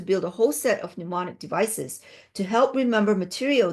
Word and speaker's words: mnemonic: a whole set of mnemonic. Okay. M is silent. Mnemonic. Some people pronounce the M, but anyways, here it's mnemonic. The M is silent.